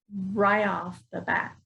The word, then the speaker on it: right off the bat: and usually we'll say right off the bat okay so here again we're not pronouncing that t sound in right so it's going to